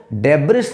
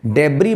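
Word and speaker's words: debris: पर अभियोग चलाना एक शब्द ऐसे आता है जिसको देब आर आई एस लिखते हैं डिब्रिस को डिब्रिस नहीं देबारी पढ़ना है और इसका मतलब होता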